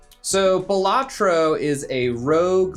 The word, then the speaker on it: Balatro: Some people I've heard pronounce it Balletro. Um, I call it Bellatro.